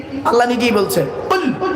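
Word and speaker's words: قُلْ: কি আল্লাহ নিজেই বলছেন কুল কি বললাম কুল কুল কয়লা কুল কয় বাসলা কুল দুটো কুলের মধ্যে পার্থক্য আছে উচ্চারণের পার্থক্য মানে পার্থক্য আল্লাহ বললেন কুলু থেকে কুল মানে বলো আর আকালাই কুলু থেকে কুল মানে গেল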